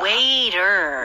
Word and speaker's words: waiter: 네, 영어로는 끝까지 R 발음 주셔야 돼요. 아, waiter.